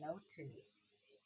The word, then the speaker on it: notice: Then I have notice. You hear that C? What sound does it make? Notice. You're right. It's an S sound, but it's spelled with a C-E. So this is a soft C.